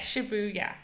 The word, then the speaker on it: Shibuya: again that sounds like shuya sh shuya yeah Shibuya Shibuya Shibuya Shibuya Shibu yeah there you go